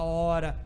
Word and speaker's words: hora: palavra herói a palavra hora a palavra homem essas palavras começam com h o h é uma letra é escrito mas não é pronunciado por que se inscrevem